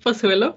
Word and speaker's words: Pozuelo: rude yes yes yes sir you very well pronounced and said my name is pasuelo and i'm actually spanish so i was